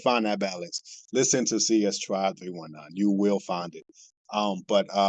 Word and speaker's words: CS Tribe 319: So 319, and it's not pronounced C19 simply because it doesn't sound good. Right. So it's 319. It's not complicated. It's just CS Tribe 319.